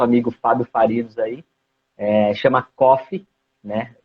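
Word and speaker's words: Cófe: Fábio Farinos aí, chama Coffee, né? E se escreve como se pronuncia, Coffee, C-O-F-E, com acento no O.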